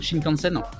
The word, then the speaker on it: Shinkansen: l'oeil à moto réponse b le shinkansen je prononce bien le shinkansen réponse c'est le samouraï shinkansen a les prochaines